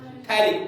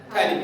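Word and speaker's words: phthalic: थैलिक। P silent है, PH जो है वो साइलेंट है, तो क्या बना? थैलिक acid.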